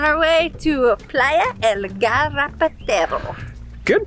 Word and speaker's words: Garrapatero: We're on our way to Playa El Garrapatero. Good pronunciation, you nailed it.